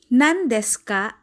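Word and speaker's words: 何ですか: On the other hand, pronounce N before N, T, D, Ts, or Dz. Example, nan desu ka? Nan desu ka? The word nan ends with letter N. And since N comes before the letter D in des, it is pronounced as N. Nothing changed.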